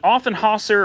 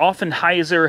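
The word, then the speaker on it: Offenhauser: cubic inch v8 with an often haaser or often hyzer however you want to pronounce it aluminum intake manifold which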